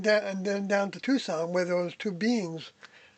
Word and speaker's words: Tucson: He's the one that called it Tuxen. Yeah, he called it Tuxen by the way, which is uh the way that D would say it.